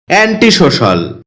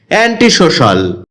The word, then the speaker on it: antisocial: অ্যান্টি সোশ্যাল এটাকে আমরা অ্যান্টি সোশিয়াল বলে থাকি যার সঠিক উচ্চারণ হচ্ছে অ্যান্টিসোশাল এটি বাক্যে এডজেক্টিভ হিসেবে